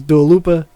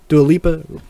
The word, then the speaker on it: Dua Lipa: right all right cool uh number nine is dua lupa dualipa how are you going to say it i've